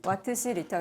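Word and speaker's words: Wh/L: 몰라가지고 찾아봤는데 w4 L 요게 이제 와트 C 리라고 하네요 와트시 리터 여러분들도 어디 가서 아는 척 한번 하세요 와트시 리라고 읽으면 됩니다 전고체 배터리 요거 얘기가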